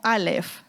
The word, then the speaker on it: aleph: La primera letra del abecedario hebreo dice que es la letra no la sé decir, pero se pronunciaría como Aleph, ¿vale?